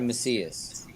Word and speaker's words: Macias: pronounce well your surname um so it's macias yeah it's spanish okay yeah my family's